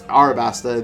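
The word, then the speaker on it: Alabasta: read back in wano that i'm not wanna alabaster or as or pronounce arabasta in this fan translation pluton is here what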